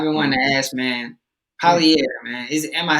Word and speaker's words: Polyair: Polyair, man. Am I saying that correctly? No, everybody tears it up. No, the correct pronunciation is Polyair. So just think poly and A. But E is silent, you know what I'm saying?